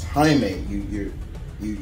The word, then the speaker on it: Jaime: little funny story i used to call him jamie i was calling him jamie reyes i'm like but then uh one of my friends um who is hispanic was like no chris um it's it's jaime you you you it's it's the i think